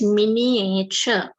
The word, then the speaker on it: miniature: every room right so this is this how we pronounce it is miniature right so my grandpa